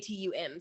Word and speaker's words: Atum: Actually, one of the gods, Adam, it's Atum, so it's not Adam, and I'm like saying it wrong.